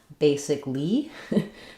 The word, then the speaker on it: basically: But in basically, we spell it with that extra vowel letter, but we don't use a vowel sound there. It's just three syllables.